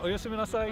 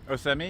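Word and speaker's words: おやすみなさい: Sayonara, oyasumi nasai. Oyasumi. Dave, your turn. Osemi?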